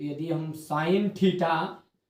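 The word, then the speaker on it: sine: पहला रहेगा आपका साइन, दूसरा आपका रहेगा कोस। क्या पढ़ेंगे इसे? साइन, ठीक है, क्योंकि इसकी स्पेलिंग इस तरह की रहती है, शॉर्टकट SIN लिखते हैं ना, साइन है ये दूसरा है कोस, तीसरा जो बनेगा आपका टेन।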